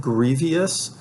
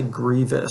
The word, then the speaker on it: grievous: hard time pronouncing because it looks like grievious but it's actually grievous so it's a long e the meaning of it